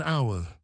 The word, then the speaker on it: hour: We say an hour. Why? Because the letter H is silent.